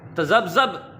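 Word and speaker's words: تذبذب: जी तो प्यारे बच्चों, तज़ब्ज़ब नहीं होता, तज़ब्ज़ुब होता है। तज़ब्ज़ब नहीं होता, तज़ब्ज़ुब होता है।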